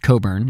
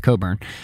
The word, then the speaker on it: Cockburn: Rear Admiral George Coburn which is spelled Cockburn but I believe it's pronounced Coburn at least that's what the British historians I have read and listened to pronounces we're going to go with Coburn recommended to Washington DC